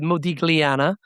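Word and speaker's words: Modigliana: those places in Italy that have the GL. So you will call it Modiglana.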